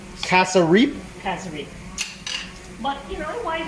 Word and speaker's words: cassareep: By the way, it's pronounced calf's rib, but it's actually cassareep.